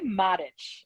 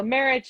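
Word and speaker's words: Marić: would say Maric in that language. Yeah. However, in English, it's generally been trickled down as Marich, Marich, or Marich. And in my family, we can't even agree on how to say it in English. So I like to joke that that's evidence of our dysfunction that we can't agree on an English pronunciation. So Marich is fine in English.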